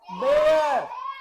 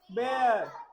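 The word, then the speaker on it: bear: बेयर इट is called बेयर बियर नहीं बोलोगे बेटा बेयर बेयर क्या बोलोगे बेयर बेयर बेयर इट is called बेयर ठीक है इट्स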